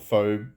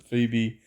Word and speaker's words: Phoebe: Uh, I call it Phobe because that's how it's spelt, but people pronounce it Phoebe.